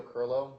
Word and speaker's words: Kirylo: seated to do so my name is curlo my last name is spelled k-i-r-y-l-o if you could please give us